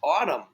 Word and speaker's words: autumn: ah okay two syllables but there's a trick in this one there's a silent letter at the end can we figure it out autumn okay ready